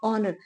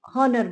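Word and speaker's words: honor: हैं लेकिन हम इसको ऑनर ये अभी ऑनेस्ट है तो हम ऑनेस्ट को ये नेस्ट नहीं बोलते और ना ऑनर को हम नेस्ट हनर बोलते हैं क्योंकि वो गलत है उसमें एच साइलेंट अभी यह ऑनेस्ट है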